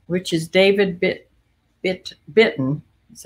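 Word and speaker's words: Bitton: of buffalo jeans which is david bit bit bitten that's how you pronounce it i got these because they are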